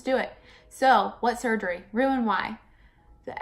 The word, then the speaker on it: Roux-en-Y: so yeah let's do it so what surgery Roux and why the X in roux is silent it is Rous oreal NY I'm ruined why um ruin why why mikkel why'd you get the surgery I'm